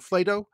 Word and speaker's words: Flato: We're talking to Jordon Flato, rhymes with Plato, and Jordon and I